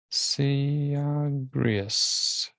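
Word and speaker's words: Syagrius: was converted by her over through saigeru s-y-a-g-r-i-u-s see griez the last roman governor in 486 and establishes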